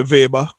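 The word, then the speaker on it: weber: by the unit um webber um i understand it's the german pronounce the w as v so if if you're a german you'll say vapor um flux densities given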